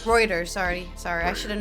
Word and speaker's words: Reuters: is pronounced. Reuters. Reuters, sorry.